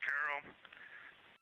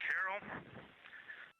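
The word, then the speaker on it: Carroll: Her name was Carol, the spouse of Reed, the mother of Katie and Ellie.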